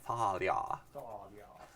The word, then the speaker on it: Thalia: That's how you pronounce her name, by the way. Thalia.